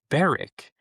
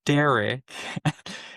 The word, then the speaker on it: Derek: R sound, and yet instead of just saying the D and the R sound, you decide to say, "Oh, Barrick." Or Bedrick. Be like, no, I said Derek.